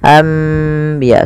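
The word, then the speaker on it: أنبياء: Iqlab yaitu membalikkan artinya maksudnya apa? Membalikkan suara nun menjadi suara mim. Awalnya anbiya Allah karena bertemu dengan ba maka diganti dengan mim. Maka dituliskan di atasnya dengan bentuk mim ini agar dibaca ambiya sambil ditahan dua harakat.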